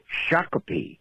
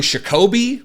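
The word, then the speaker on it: Shakopee: want to tell you it's called Shaka Shaka Shaka all right thank you love your show thank you I don't remember how I pronounced it um probably shakobe or shopi or I don't remember but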